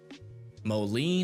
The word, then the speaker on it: Moline: Molen is how you say moline.